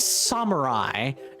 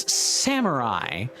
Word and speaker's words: samurai: And and the funny thing about the SMT pronunciation is it's wrong. It's not samurai. It is samurai.